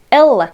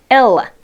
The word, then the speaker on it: Ella: Ella, con la L fuerte, aunque sea doble. Ella.